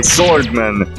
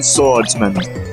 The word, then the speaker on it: Swordman: Which for some reason the voice actor for Swordsman gets wrong. Swordman. He said, I'm Swordsman. When, no, there is no S. It is spelled as 2 separate words. Swordman, not Swordsman.